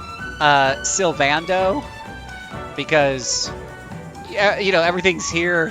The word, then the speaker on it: Sylvando: could be wrong, but I'm pretty darn sure it's pronounced Sylvando. My enunciation isn't perfect, but the A would be, you know, a longer sound, I believe. Not like the word and.